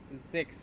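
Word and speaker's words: sechs: সিক্স, সিক্সকে জেক্স বলে, জেক্স। এস এর উচ্চারণটা জে এর মতো করে হবে, সিক্সকে বলবে হচ্ছে জেক্স।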